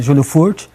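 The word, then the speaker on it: Júlio Furch: com o Júlio furt isso isso mesmo a pronúncia né Júlio furt tem essa ação do Gerson a gente já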